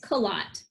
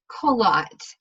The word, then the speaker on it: Coillot: last name close its collat qalaat you train in take French and make it American well it is great